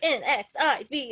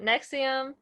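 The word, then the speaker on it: NXIVM: of no roman numerals so i was like n x i v every time you're like four right jesus um okay so to start out nexium uh was branded as a multi-level marketing company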